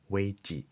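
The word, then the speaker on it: 危: Chinese words about the term crisis pronounced as way.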